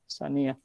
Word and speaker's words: Saniyah: Namanya Saniyah. Bukan Sunniyah ya bacanya ya. Saniyah fil Ahadits Al-Qudsiyah.